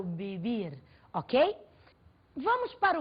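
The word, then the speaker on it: vivir: céu e as bebia você deve estar estranhando a pronúncia do ver em português ver em espanhol ver tem o som de lã muito próximo ao dedo português portanto eu não falo viver eu falo Bibi Ok vamos para o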